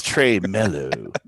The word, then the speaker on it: tremolo: on it so but is it pronounced tremelo or tremolo who knows i don't know i've never known oh i thought it was trey mellow trey melo it's trey mellow so anyway but anyway